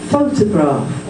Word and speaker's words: photograph: Photograph, photography, it's moved from the first syllable to the second.